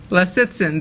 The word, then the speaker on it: Lisitsin: how you pronounce it correctly it's a three syllable so listen les it's in there you go when you say it quickly